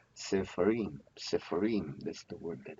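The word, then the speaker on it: ספרים: Well, we don't have any accent mark, so the accent falls on the last.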